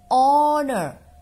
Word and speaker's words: honor: umbrella be an hour so this is the silent right hour and honest person and honor and air right so if